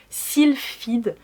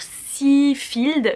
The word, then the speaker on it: Sylphide: le titre j'arrive jamais silfed je dis toujours si field mais en fait c'est sil Fed j'arrive jamais prononcer le